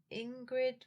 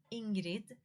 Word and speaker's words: Ingrid: It's just that Ingrid would be, yeah, would be the, American English pronunciation, but it is Ingrid in Swedish. I think Ingrid Ingrid is a bit softer, I would say. So, yeah, a little bit sweeter, maybe.